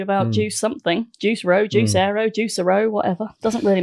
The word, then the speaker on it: Juicero: It's still pronounced juice arrow.